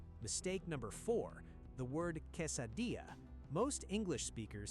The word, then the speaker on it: quesadilla: Mistake number four, the word quesadilla. Most English speakers say "case-a-dilla." This is wrong. The double L in Mexican Spanish is never a hard L sound. It sounds like a Y. Say "quesadilla."